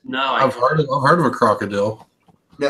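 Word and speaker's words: Krokodil: No, I've heard of a crocodile. No, it's spelled with a K. Crocodile, not crocodile.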